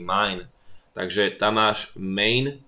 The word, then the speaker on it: main: Pozor, ono sa to vyslovuje main, ale to nie je nemecký main, že môj, ale po anglicky main.